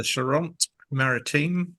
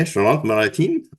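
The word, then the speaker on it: Charente-Maritime: Yep, the Charente Maritime. Yep. Okay, Charente Maritime.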